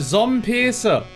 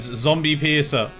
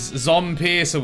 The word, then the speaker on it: Zompiercer: Hello and welcome to Zom Pearcer.